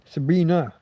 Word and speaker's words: Sabine: Sabina, she pronounces it.